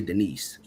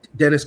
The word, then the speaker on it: Dennis: Because every time I see his name, I want to say Denise. But please, it's Dennis Cowan.